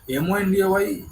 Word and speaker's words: Monday: তাই MONDAY কথাটা হয়তো দেখলে মনে হচ্ছে মন্ডে হবে, কিন্তু কথাটা মন্ডে না, কথাটা মানডে, Monday. একটা আকার থাকে, ঠিক আছে?